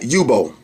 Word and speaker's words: Yubo: All right, Yubo. That's how you pronounce it.